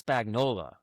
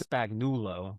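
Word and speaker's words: Spagnuolo: It's Spagnola, not Spagnulo or something else.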